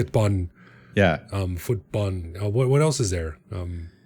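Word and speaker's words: ฟุตบอล: Footbun. I love this one. There's something kind of cute about this pronunciation. I don't know why. Footbun. Footbun. He just I don't know why it uh and again there's no L at the at the end of the word at the end of Tai words.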